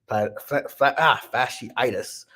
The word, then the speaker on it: fasciitis: battling his plants are fasciitis fasciitis that's how you say it but regardless though they'll